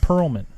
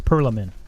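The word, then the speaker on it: Perelman: Control shareholder Ronald Perlman. Okay. It's not the same. P-E-R-E-L, and I don't know Oh. business. I know you- movies, so I know. You didn't pronounce the extra E. It's Perlman.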